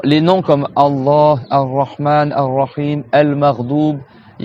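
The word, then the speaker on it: الرحيم: Et après, Ar-Rahim. Donc là, c'est pareil. Ar-Ra. Donc tu as toujours la shadda sur le Ra. Et après, Him.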